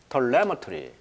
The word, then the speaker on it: telemetry: 마찬가지. telemetry 그렇게 발음을 하면 되겠네요. 그래서 이제 이 원격으로 이제 측정을 했다는 거예요.